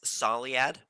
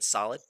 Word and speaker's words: Soliad: Here's the pair of Volvo Juniors, Burgen, and I've been told to pronounce it like this, Soliad. I was saying solid.